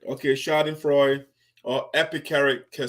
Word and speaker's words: schadenfreude: just want to make sure that i will pronounce the words correctly so shading freud okay shouting freud or epic can say epic character say you